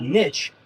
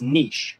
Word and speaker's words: niche: It's not niche, it's niche.